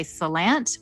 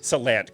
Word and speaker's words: Salant: Well, generally people, I say Salant, but a lot of people do say Salant, but the way it's correctly pronounced is Salant. Salant, got it.